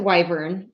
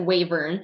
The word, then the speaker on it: wyvern: I pronounce it Wyvern. Adam pronounces it Wavern. I've also heard it Wyvern.